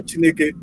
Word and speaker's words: Chineke: When you say Chineke, the next thing say US. You pronounce it like that with an Igbo tongue.